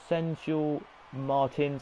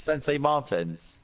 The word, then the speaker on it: Sensei Martins: 11th Sensual Martins, I think that's how you say it. 12th, Sensei Martins. It's Sensei Martins.